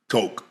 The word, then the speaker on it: Koch: To the Koch family. The Coke. So Coke. It's It's pronounced KO, but it's spelled K O C H.